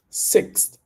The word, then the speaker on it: sixth: say this word six sixth sixth notice that you don't need to pronounce the th all the time you're going to notice